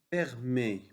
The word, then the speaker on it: permet: Permet. Permet. E-T. E-T se prononce E.